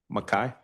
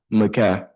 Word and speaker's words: Mai: How do you say your name? Mai. Mai.